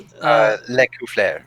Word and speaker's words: Lescouflair: Black, Will Doyle, James Heck, James Introcaso, Rich Lescouflair, I believe. Ginny... Lecouflair. Thank you, sir. I think. You've got that. I know you've got the French pronunciation.